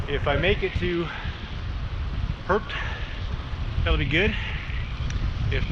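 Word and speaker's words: Höfn: If the weather cooperates, it'll be Hofn, spelled Hofn, H-O-F-N, but pronounced Perp.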